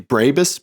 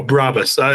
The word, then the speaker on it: Brabus: see the two um how do you say the Mercedes like tuning company brais Brabus oh Brabus is what Brabus yeah would you like to